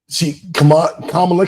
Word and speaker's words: Kamala: I know everybody's been recapping it all week, but Kamala came out, say her name correctly, Kamala.